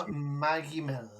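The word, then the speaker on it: Benoît Magimel: Um, I think that Benoit, how do you pronounce his name? Is it? I think the guy playing Dodon. I think it's, Benoit Magimel. yeah, That's how you Megamel.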